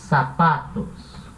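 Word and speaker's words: zapato: tem os sapatos não sapato se pronuncia igual sapato mas se escreve com c tá certa ela que senta vai ter som de essas sapato tá beleza então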